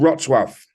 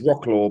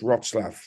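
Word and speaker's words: Wrocław: got one third of its inhabitants uh ukrainians pronounce it again for me Adrian please it's called rotswaff so people think it's rock law but it's rotslav yeah that's yeah that's the pronunciation there's a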